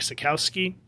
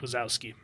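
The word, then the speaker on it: Sekowsky: Gardner Fox the pincel was Mike Sakowski not Mike wasowski Mike Sakowski the incor were Bernard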